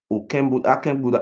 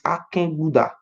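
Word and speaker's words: Akenbuda: A real pronunciation is not Oken Buddha, it's Aken Buddha.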